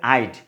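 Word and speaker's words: I'd: আমরা তাহলে বুঝ আইড, উচ্চারণটা হবে আইড নট আড, কেউ যদি বলি আড উচ্চারণটা কিন্তু সঠিক না, ঠিক আছে।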